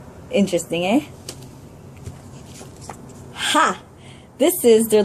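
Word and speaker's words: Х: this is their letter H well it's actually pronounced I had fun practicing saying this letter because I like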